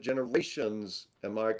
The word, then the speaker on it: GenarationZ: Cognition and Generation Z, which you pronounce it generations.